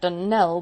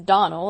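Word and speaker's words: Donnell: not as for that danelle woman she'll get no dunnelling from me i can assure you the name is donal and always has been the woman is crazy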